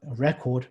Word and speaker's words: record: update so you have record present project and update the the moment you turn these into verbs the stress moves or shifts into the next syllable so it's a record